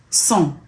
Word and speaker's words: sans: A lot of French words sound the same, but don't have the same meaning and are not written the same. So phonetically, they're the same, but they're not written the same way.